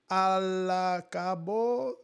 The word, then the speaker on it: al cabo: Échale ganas que al cabo los bocones siempre serán. I can't wait. So, échale ganas que al cabo, I don't know. A-L-C-A-B-O. How do you pronounce that? Al cabo. Al cabo.